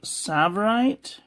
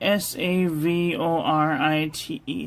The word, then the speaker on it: Savorite: brimi and Pen Company I think it's pronounced Sav savorite t s a v o r i t e savorite t s a v